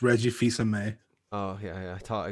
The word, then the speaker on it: Fils-Aimé: Reggie Phil's Ame. Was that right? It's Reggie Fils-Aimé. Oh, yeah. I thought I got that wrong. All right. Fils-Aimé with a silent L.